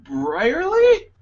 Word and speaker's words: Brierly: And you, Brierly? Did I pronounce that right? Absolutely.